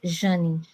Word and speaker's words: Jane: in this body so my name in Portuguese j a n e is pronounced janni so I say inside